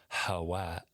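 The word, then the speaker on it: חוה: To pronounce it, there is never any stoppage, just a constant flow of air from within the lungs, up through the throat and out the open mouth.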